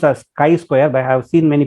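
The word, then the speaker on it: chi-square: the mini paper research articles that is the chi Square yes you have to pronounced as Chi square but I have seen many people uh pronouncing it as chai square Chi square and done uh just you have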